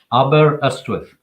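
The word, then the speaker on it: Aberystwyth: say that for me slowly how do you pronounce that aber estwife um let me try let me try phonetically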